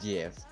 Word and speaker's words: GIF: youtube thumbnails and gifts don't you dare say gif i swear i will leave the match oh i'm sorry it is gif and you know it it is not if you pronounce it jiff you are no longer allowed to breathe i always say i